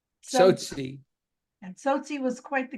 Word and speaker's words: Tsotsi: So without further ado, we looking forward to hearing how do you pronounce it anyways? Tsotsi. So, Tsotsi.